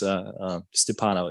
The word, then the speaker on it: Stsiapanau: First of all, and I'm embarrassed to ask this, but how do I pronounce your last name? Oh, James, please. So it's Stsiapanau. It's Stsiapanau. It sounds a lot easier than what it looked like.